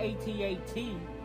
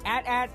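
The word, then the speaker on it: AT-AT: Ron oh it's the 8080 but but most people call it a heads and wondered them say both pronunciations or correct it could be a tad it could be 8080 so I got to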